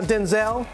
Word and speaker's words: Denzel: true that your mom it's really Denzel not Denzelle? Uh Denzel. Denzel.